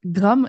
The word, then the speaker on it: Grammes: in and and then I know I butchered the name of Graeme Edition. Maybe you can give us a proper pronunciation of that as well. Sure. Um it's GR Edition.